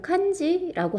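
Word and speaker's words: 感じ: 그 일본어로는 간지라고는 안 하고 칸지라고 하는데 요 칸지가 인상, 감상 뭐 이런 뜻이어서 간지 있다, 간지 난다 이렇게 얘기하는 게 모양이 좋다, 괜찮다 이런 뜻이죠.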